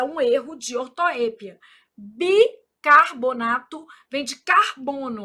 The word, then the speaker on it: ortoépia: Então aqui, ó, são erros de ortoépia. Essa palavra ortoepia, ela é um caso de variante, então ela também pode ser pronunciada assim, ó, ortoepia, sem acento.